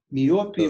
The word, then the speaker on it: миопия: Миопия, майопия? Вопросов пока не вижу в чате. Я думаю, что вопрос миопии и гиперметропии понятен большинству. Да, миопия. Майопия, ну... Я, может, это просто больше произношу на английский манер.